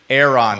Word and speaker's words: Aeron: asses and there's no parole for federal offenses Aeron is how you say that chair thank you